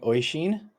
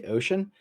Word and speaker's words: Oishin: Hey, I'm playing Oishin. People often mispronounce it and say Ocean, but he corrects them every time, regardless of what they say.